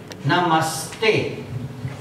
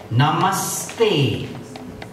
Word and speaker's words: namaste: Namaste. And you can see the sound stay. The sa is not fully pronounced. Namaste.